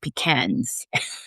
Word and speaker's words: pecan: live in the world if it's pecans or pecans, right? But I was just in Charleston recently for my birthday, some of you know last month, and they do pronounce it pecans.